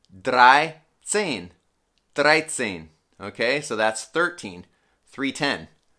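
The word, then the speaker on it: dreizehn: the number for instance 13 will be 3 plus 10. so it's going to be drai sen okay so that's 13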